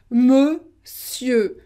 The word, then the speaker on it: monsieur: So this is very strange because we write it with O-N, so it should be a nasal on, but it's not. This is E, monsieur. And we don't pronounce the final R.